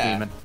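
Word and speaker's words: Daemon: This is Demon, but spelled D-A-E-M-O-N, like... Yeah. Which I like, actually... like Damon. Yeah, I always thought it was Damon, like Mailer Damon and all that. Yeah, but It's pronounced the same way. It's just demon.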